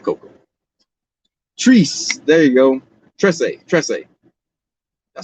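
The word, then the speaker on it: Trese: And then I heard someone pronounce it and I was like, oh, it's like a white person's trying to say 13 in Spanish. Tresse.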